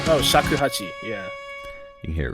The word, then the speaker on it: shakuhachi: You can hear the, I'm going to pronounce this instrument completely wrong. I think it's a shakuhachi. Oh, shakuhachi, yeah.